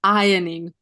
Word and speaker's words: ironing: at this word ironing what is the silent letter ladies r r is silent we don't say it yes let's say it together ironing yeah so ironing glided